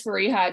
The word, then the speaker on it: Fariha: so um yeah so my name is fariha it's very uh the pronunciation is really similar to how it is spelled um i'm again excited